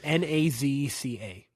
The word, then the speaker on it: Nazca: I don't know how to spell it. I barely know how to say it. It's Nazca.